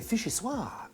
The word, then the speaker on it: vichyssoise: can still create something delicious and iconic, a vichyssoise. It's a chilled soup, yes? You pronounce it perfectly.